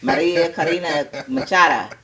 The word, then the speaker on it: Maria Corina Machado: I gotta roll my R's. Fuck that. Maria Corina Machado.